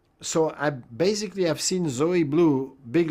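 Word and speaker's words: Zoë Bleu: Blue Zoe Blue. Is that how I pronounce her name?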